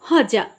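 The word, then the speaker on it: Hodja: आदमी जिसका नाम था हजा डी यहां पर साइलेंट है एच ओ डी जे होजा ही वाज वेरी क्लेवर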